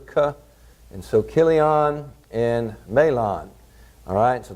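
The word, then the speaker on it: Chilion: it for you but they all pronounce it like a hard CH like character cut and sew Killian and mail on alright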